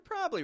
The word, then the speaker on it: probably: right you're probably right we still do Peak our voice up on the pr probably right we maintain that stressed syllable however we also drop a syllable from the middle of the word you're probably right we're